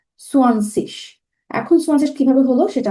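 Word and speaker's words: zwanzig: সোয়ানজিশ আমরা কিভাবে উচ্চারণ করবো, মানে সোয়ানজিশ 9 সেনের পরে যে শব্দটা আসে 20 কে ডয়েচে বলা হয় জার্মান গ্রামাটিকে সোয়ানসিশ।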